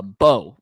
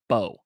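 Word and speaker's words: Mbow: There's no So but it's it's spelled M B O W but you don't say the M.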